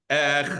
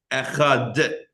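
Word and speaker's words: אחד: Echad.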